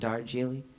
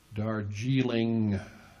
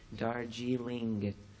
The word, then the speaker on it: Darjeeling: us again Neil and darjeely slow down the ending darjeely no Darjeeling Darjeeling so this is a